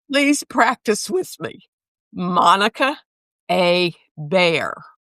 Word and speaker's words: Hebert: The a so the the so the the h is silent. It's a bear.